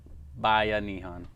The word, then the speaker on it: Bayanihan: Can you pronounce the word one more time for me? Bayanihan. Bayanihan.